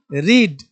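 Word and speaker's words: read: रिटेन writing rights लिखना रीड रेड रेड रीडिंग रीड्स पढ़ना रीड रेड रेड पढ़ना sound सुनाया रीड का वी टू स्पेलिंग सेम है पढ़ेंगे पढ़ेंगे लेकिन रेड रीड रीड नहीं पढ़ेंगे।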